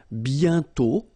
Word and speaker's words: bientôt: And then bientôt, okay? Remember, you put this accent circonflexe, but you don't write it. You write it, but you don't pronounce it. And then the final T is not pronounced. Bientôt, okay?